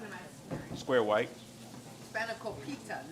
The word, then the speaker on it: spanakopita: How do you pronounce it? Spanakopita? Spanakopita? Spanakopita.